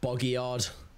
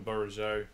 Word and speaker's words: Bourigeaud: I call him Bogyard. Oh, I call him Bourigeaud.